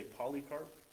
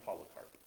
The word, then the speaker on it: Polycarp: name was polycarp a bunch of people say polycarp because it has a y but it's pronounced polycarp but it was 86 when he died he